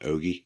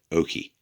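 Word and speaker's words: Okee: I apologize for that it's not Ogie it's Oaky and I think I'm pronouncing that right I'm from uh just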